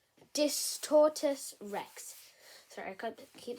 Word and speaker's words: Distortus Rex: My man almost getting eaten by the Distort Rex. Distortus Rex. Okay, let me say that again. Distortus Rex.